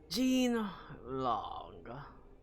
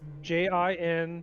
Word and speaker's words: Jin Long: Jean Long, driven from this land before. Can you spell that? It's Jin Long.